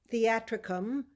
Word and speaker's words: theatricum: again for your uh sure it's www dot theatricum it's spelled like this t h e a t